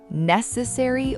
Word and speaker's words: necessary: Necessary or necessary? Necessary. Stress on the very first syllable. British and American English can differ slightly on the ending here, but that first syllable stress stays strong in both.